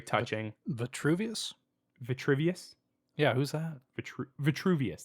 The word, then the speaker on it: Vitruvius: Vitruvius, that's how they say it.